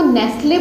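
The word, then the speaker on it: Nestlé: इसको नेस्ले बोलते हैं ना, नेस्ले चॉकलेट आती है, ठीक है, नेस्ले, तो ये ऐसे बोला जाता है, नेस्ले, ठीक है।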